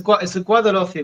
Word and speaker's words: Guadalhorce: The Guadalhorce, is that how you pronounce that? Yes, it's the Guadalhorce Valley.